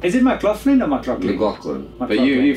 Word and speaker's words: McLaughlin: But you French guys, you always say McLaughlin, which is What's a GH? Yeah, well, and the Americans say it as well like that. Yeah, so they do. Like, it's, you just got to remember the lock.